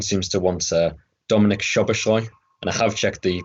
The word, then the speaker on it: Szoboszlai: final question everyone seems to want uh dominic shabashoy and i have checked the pronunciation for that because it's uh there's a